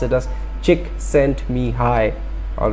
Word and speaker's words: Csikszentmihalyi: bad so if you want to pronounce it pronounce at us chick sent me hi all right so Mihai Csikszentmihalyi is a Hungarian